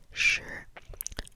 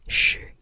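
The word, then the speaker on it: 十: I think if I were to spell it out, by the sound of it, it sounds kind of like S-H-R, sure, because there's an sound after the S-H at the end.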